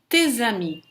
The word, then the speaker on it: tes amis: Depois temos tes amis, tuas amigas. Te, se fosse na frente de uma consoante ou sozinho, seria te, sem pronunciar o S no final, mas aqui aplicamos a liaison, tes amis.